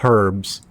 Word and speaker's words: herbs: It's like uh like American English pronounces her uh herbs without the H, which is like one of the stupidest things I've ever ever heard of.